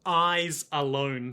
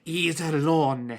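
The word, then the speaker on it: Iserlohn: say, "Today I learned it isn't eyes alone fortress as in eyes things on your face." Oh, cuz they've never read. Yeah, it's probably pronounced technically. Iselon.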